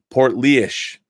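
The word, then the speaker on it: Portlaoise: go heads up my hometown my hometown is pronounced portly ish Oh portly ish poorly ish poor leash portly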